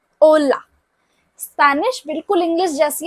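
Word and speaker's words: hola: जब मैंने इसको बोला कि H जो है वो साइलेंट है, तो बाकी क्या हो गया? ओला।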